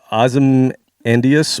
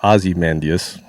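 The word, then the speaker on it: Ozymandias: The name Uh, it's either Azam Andias or Azymandas. We'll go with Azandius.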